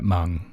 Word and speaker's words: Hmong: We're 100% Hmong. The H is silent.